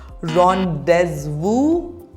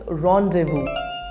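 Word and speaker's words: rendezvous: next word how do you pronounce this word rondes Vu incorrect the correct pronunciation is Rondevu repeat after me Rondevu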